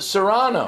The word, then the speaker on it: Cyrano: Ringo called it Serrano. It's the English pronunciation. Ringo sings it Cyrano.